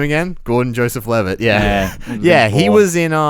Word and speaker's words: Gordon Joseph Levitt: I was getting his name wrong. Jordan Joseph Levitt. I couldn't remember his name. Jordan Joseph. Yeah. What was his name again? Gordon Joseph Levitt.